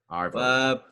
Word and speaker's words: arvo: Arvo. With the little R. An arvo would be like the afternoon, so you just sort of pronounce it a hard R.